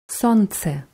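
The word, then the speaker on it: солнце: besondere an diesem wort es wird mit einem l geschrieben smc gsl wird aber nicht ausgesprochen sonst das andere wort ist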